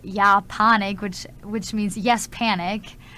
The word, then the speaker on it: Ja Panik: And it's not like the way you say it's like yeah panic. It's I don't know. It's probably kind of French to me. But yeah, that's how you pronounce it.